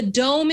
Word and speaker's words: Dohm: Yeah, the Dome is the one I use for Mona. It's spelled DOHM, but there's other brands that make it.